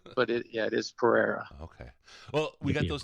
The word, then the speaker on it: Pereira: every time yeah everybody it's Pereira Pereira okay so yeah it's it's he's Portuguese it's spelled p r e i r a Pereira but I mean I've heard I've heard Panera I've heard all you